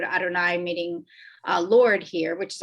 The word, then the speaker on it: Adonai: We as we pronounce these 4 letters with the word Adonai, meaning Lord here, which is often you'll see the English translation.